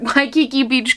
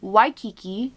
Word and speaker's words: Waikiki: and you were like you butchered the name of this candle so i looked it up and now i'm ready it is waikiki beach coconut by the way just